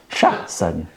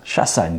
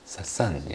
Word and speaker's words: Chassagne: Pronunciation is correct. Chassagne. Sassagno. Chassagne. Chassagne. Chassagne, correct. Sassagno.